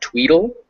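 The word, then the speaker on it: tweetle: know in advance um the word spelled t-w-e-e-t-l-e that's pronounced tweedle and part of the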